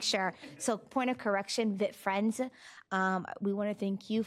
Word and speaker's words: Vit Friends: I am hoping I pronounced is it Vit Friends or is it V-I-T? Vit Friends. Okay. I wanted to make sure. So point of correction, Vit Friends.